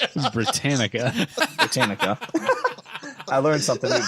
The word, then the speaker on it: Britannica: them is the entire set of the encyclopedia britaconica Britain it's Britannica Britannica I learned something today I own this